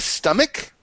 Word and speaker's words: stomach: Ria, stomach? Stomach. Yeah, some people say stomach because it's a CH, but you pronounce it correctly, stomach.